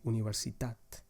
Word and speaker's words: universitat: For example, in the word universitat, the stressed syllable is the last one, tat. You say universitat.